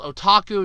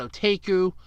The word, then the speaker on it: otaku: I was somewhat corrected apparently it's called otaku not at a GU I've heard it pronounced